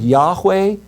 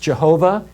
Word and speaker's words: Yahweh: We translate the word Yahweh. Sometimes it's pronounced Jehovah. The reason we don't know how it's pronounced is because the Jews felt the name was so holy that they took out the vowels.